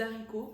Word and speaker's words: haricots: bonnes, tout comme les haricots, on ne prononce pas le H, autant pour moi.